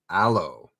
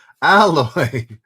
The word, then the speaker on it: alloy: a low melting point aloe oh sorry al not aloe why can't i think of is it aloe no it's not aloe what is it alloy alloy like rhymes with toy alloy sheesh yes uh